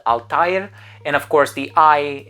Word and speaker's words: Althair: is a Diaries and it has the umlaut on it which is the two dots kind of like the word naive so the I has to be pronounced independently so Altair and of course it